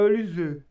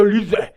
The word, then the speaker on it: Olise: Pra mim, assim, se é pra falar em francês, a gente tem que fazer biquinho, então é Olise. Mas como ele jogou na Inglaterra e na Alemanha, lá deve ser Michael Olise.